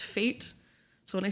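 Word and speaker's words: Feit: It's F Ei T, but it's pronounced Fate.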